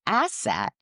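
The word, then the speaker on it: ACET: ACE T American College of Eye Technicians, but we pronounce it asset because technicians are an asset to every practice.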